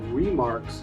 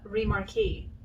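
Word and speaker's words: Remarque: front is eric maria remarks masterpiece of the german experience during world war one wait that is not how you say his name how do you say his name it's like eric maria remarquis oh pretty sure what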